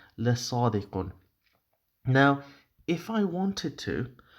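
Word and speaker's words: صادقٌ: In Arabic, in colloquial Arabic, the way people speak nowadays, you probably say inna Muhammad la sadiq. That would be typically how an Arabic speaker would speak. But in terms of Arabic grammar, I'm pronouncing these signs here deliberately so it gives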